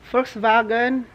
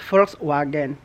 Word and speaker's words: Volkswagen: a Volkswagen Volkswagen siya Volkswagen kung tayo magbasa niyan is Volkswagen pero ang tamang pronunciation po talaga niyan is Volkswagen it's a German company I know alam niyo na ba FV So ito na po siya.